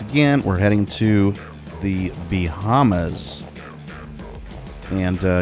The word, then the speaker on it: Bahamas: now uh once again we're heading to the bahamas and uh you certainly don't pronounce it b hamas but um you know